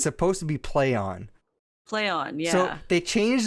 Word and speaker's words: Plaion: It's supposed to be Plaion. Plaion, yeah. So they changed their name from a name that nobody can pronounce to another name that nobody can pronounce.